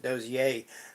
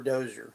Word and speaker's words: Dozier: I pronounce it Dozier, but it's pronounced that or Dozer, either way, and or.